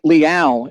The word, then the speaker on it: Liao: So Ben Mosseth is how we pronounce the first one, and Christian Liao is how you do the second name.